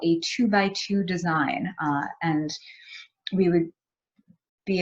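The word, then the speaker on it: 2×2: And so it's spelled out as 2x2, but we pronounce it as 2-by-2.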